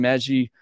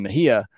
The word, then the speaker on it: Mejia: and seven strikeouts Ian meji uh six and two thirds two hits one walk no earn and five strikeouts sorry I said that name wrong uh Ian Mejia uh six and two